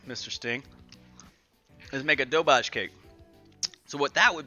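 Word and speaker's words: doberge: It's going to be an incredible, dobage. It's spelled like this. Spelled like that. But it's called, dobage.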